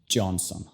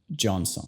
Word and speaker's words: Johnson: La J se pronuncia igual que en Justin. Johnson, Johnson.